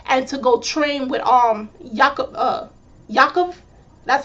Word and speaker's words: Yakov: after he lost and to go train with Yakov, that's how you pronounce his name, while Yuri has won and he has Victor to stay with him in Japan.